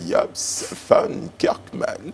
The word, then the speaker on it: Jobst Von Kirchmann: Nous sommes maintenant avec son Excellence, Monsieur Japs van Kerkman. Il est l'ambassadeur de l'Union européenne en Côte d'Ivoire. Je prononce bien, Excellence?